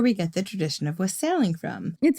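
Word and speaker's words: wassailing: Anyway, according to an article on learn religions by Patty Wigington, quote, the tradition of wasling pronounced to rhyme with fossiling.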